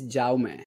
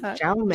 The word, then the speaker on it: Jaume: My name is Jaume. So can you pronounce that? Jaume. Jaume. So it's Catalan.